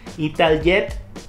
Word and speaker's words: Italjet: En el puesto número 3, Italjet. Es que así se pronuncia en Italia. Italjet Dragster.